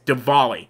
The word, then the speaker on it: Diwali: they pronounce that word not not divally or whatever you how you pronounce it it's Diwali I learned this I